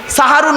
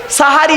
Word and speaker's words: সাহারি: দিলে দন্তেশয় আকার দিলে সাহারুন মানে হল রাতের শেষ অংশের খাবারকে আরবিতে সাহারি বলে তাহলে শব্দটা কি হবে সেহরি না সাহারি সাহারি ভুলটা ভাঙলো চলুন আরেকটা টাটকা ভুল